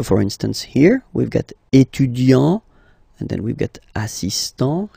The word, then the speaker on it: étudiant: Okay, so for instance here we've got étudiant, and then we've got assistant here. Okay, you just take it back here, étudiant, and then you will add this a at the end without modifying the first part.